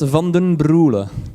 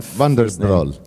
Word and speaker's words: van den Broele: name van den Broele. Van den Broele. Yeah. Right. Yeah, it's a Dutch name. It's a Flemish name, so it's quite difficult to pronounce.